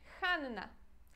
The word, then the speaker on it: Hanna: o próximo nome é Hanna Hanna Hanna Ah de novo pronunciamos duas vezes o n ok Porque temos dois n a forma carinhosa mais